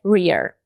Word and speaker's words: rear: E a pronúncia é rear. Rear. Talvez esse seja um problema só meu. Então, como que eu tô tentando associar essa palavra rear traseira rima com fear?